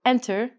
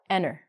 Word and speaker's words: enter: We don't say enter, we say enter.